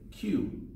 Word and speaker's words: queue: stand in line now the last four letters of this word aren't pronounced so we just say Q like the letter Q or phonetically kyo ho